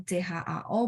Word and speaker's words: chao: Tapi kalau CHAO berarti lidah saya perlu diangkat.